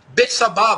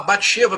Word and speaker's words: Betsabá: A possui, a violenta, Betsabá, Batsheba, Betsabé, como se quiser pronunciar.